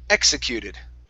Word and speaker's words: executed: um the word executed so stress at the beginning and we have an ed ending at the end executed executed all right very